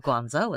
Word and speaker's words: Guangzhou: Not just of Canton, but Canton is not how you say it in Chinese, but Guangzhou is really good.